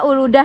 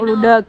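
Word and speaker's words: Uludağ: Jadi bacanya Uludah ya, bukan Uludag.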